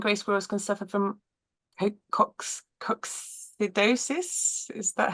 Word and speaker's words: coccidiosis: both red and grey squirrels can suffer from coccidosis. Is that how you say it? And is there a link between large pheasant populations and squirrel health? Yeah, tell me I'm saying that right. Yes, right. So coccidiosis is coccidia are protozoan parasites, so they're kind